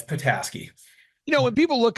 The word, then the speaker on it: Petasky: sir yeah that's right pataski people usually go like pety and I'm Ukrainian background so people call me um but it's patasi you know when people